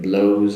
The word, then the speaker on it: blows: Also the S at the end of blows is more of a Z sound as well.